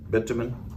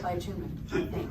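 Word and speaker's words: bitumen: did somebody say it bitman bitman for Mortar that's how the Australians say it Americans say it by tuman by tuman all right here's what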